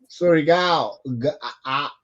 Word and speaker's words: Surigao: Surigao, the A owl, like City. Davao. Okay. It's like Davao. It's like Mindanao.